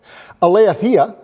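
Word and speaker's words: aletheia: in the new testament eleathia is how it's pronounced and it's used 110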